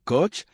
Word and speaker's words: Koch: Le colonel Oscar Koch, prononcé Koch, entra dans le bureau de Patton avec une pile de rapports de renseignement qui allaient changer le cours de la guerre.